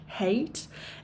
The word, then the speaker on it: hate: Et attention, on prononce bien le H, hate.